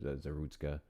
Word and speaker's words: Zarutska: Zarutska. Zarutska. I'm assuming it's Zarutska with the U. Zarutska.